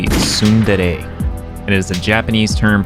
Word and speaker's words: tsundere: Sunder. Yo, what's up, guys? Editor Zane here. So the pronunciation of that word is actually tsundere.